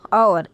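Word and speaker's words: hour: तो देखिए जैसे यूज़ एन एन आवर एच आ रहा है लेकिन सुनने में आवर लगता है।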